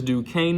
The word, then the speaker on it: Duquesne: 810 people or non 810 people try to pronounce that name but I know it is Duquesne now but either way I still have them